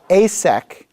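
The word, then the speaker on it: Esek: One of them is asek, that's A-Y-S-E-K, is spelled E-S-E-K.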